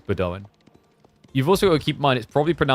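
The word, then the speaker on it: Bedouin: And I was assured by multiple people is Bedoan.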